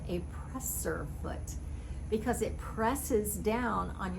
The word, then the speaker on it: presser foot: foot so presser foot a lot of people will call it a pressure foot because it's putting pressure on your fabric as you feed it through the sewing machine but actually it's called